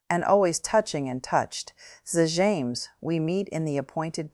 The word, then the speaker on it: Zh'james: Zames, we meet in the appointed place. For the first time, Dion gave his name the Romulan pronunciation which she had said once would be proper.